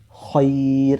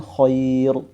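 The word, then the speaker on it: خير: tipis ya Nah ini dibaca tipis Kenapa karena ia sukun ini ya posisinya itu seperti gas gasroh seperti itu jadi bicara membacanya Khoir Khair ya bukan Khoir ya Nah sekalipun di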